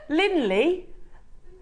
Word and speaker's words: Linley: A bit like Finley without the F. Instead it's a L.